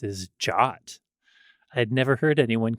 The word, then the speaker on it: JWT: are a surprise yeah that people called it jot I'm trying to think I don't think I've ever talked to any other developers about Json web tokens in person in a way where they would call them jot but uh yeah that